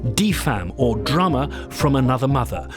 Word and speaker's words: DFAM: about pronouncing it how it's meant to be pronounced de femme or drama from another mother will ignore its